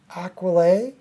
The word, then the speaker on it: Aquilae: I think it's called Stu says it's pronounced aquilae is that what you're saying Stu equally uh Deeds as half